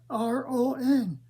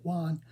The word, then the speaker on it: Ron: And I said, no, R-O-N, Ron. But I pronounced it Juan because I had a problem with R's, with S-S-S-H, and T's.